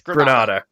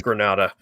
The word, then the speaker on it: Granada: yeah grandma it's the white thing on the box should be pronounced grandma i don't know i pray on granddad no it's gross it's granada and granada oh you're ready okay i am portugal okay